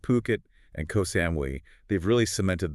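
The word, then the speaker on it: Phuket: And remember, that's always pronounced Puket, not Fukit. Good point. Yeah. Puket.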